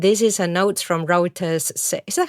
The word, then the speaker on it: Reuters: with listeners and this is a notes from router's is that how you say it how do you say the name of the agency Maya Reuters and it's about JPMorgan asking its managing directors